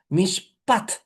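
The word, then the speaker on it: מִשְׁפָּט: Mishpat, con T final, es rectitud. Se escriben casi idéntico.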